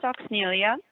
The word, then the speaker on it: Oxnyllia: It's pronounced Oxnyllia, Okay.